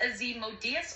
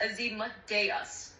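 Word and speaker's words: Asmodeus: It's pronounced a Z modas or sometimes a Zas depending on accent and context. As Modas as Modius or whatever asthmodas, you can say it either way.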